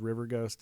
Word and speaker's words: VERGHXST: Yeah, I have a solo electronic music project called River Ghost. It's spelled in a way that you'll never find it, but it is on.